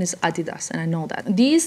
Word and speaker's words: Adidas: Now, I don't know if these Adidas, why did I say Adidas? The actual correct pronunciation is Adidas, and I know that.